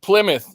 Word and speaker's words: Plymouth: Like Plymouth. Like Steve says, Plymouth is, It's Plymouth. It's not Plymouth. It's Plymouth. That's how they say it in my country.